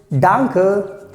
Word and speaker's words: danke: thank you someone so you can say simply dunker danke so this is the pronunciation dunker now what happens sometimes